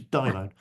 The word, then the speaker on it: daimon: He mispronounces Greek and calls it daemon. It's a daimon.